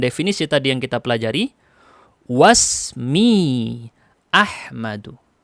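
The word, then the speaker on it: وَاسْمِي أَحْمَدُ: Wasmi Ahmadu. Tidak dibaca wa ismi, tapi dibacanya gimana? Wasmi Ahmadu.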